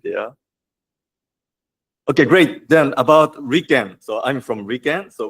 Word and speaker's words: RIKEN: And this is in Japanese pronounced as Riken. Then the Riken headquarters decided to use this Japanese acronym as our official name.